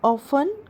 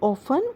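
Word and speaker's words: often: आई ऑफन go there. मैं वहां अक्सर जाता हूं। आई ऑफन go there. T would be silent here.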